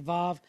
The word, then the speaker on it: vav: Or some people pronounce it as vav. I always pronounce it as wa.